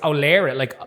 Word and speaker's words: O'Laoire: memory, I just think O'Leary, but it's O'Leary. O'Leary, yeah, so Dunleary. Oh, yeah. I I'm pronounce from it Dunleary, so- O'Leary. It's a Kerry name.